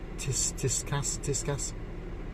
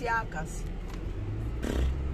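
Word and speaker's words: Tsiakkas: Tiscas? Wow, whatever it's called. I can't see where you There see. we are. She shouldn't be driving, should she? It's Tsiakas.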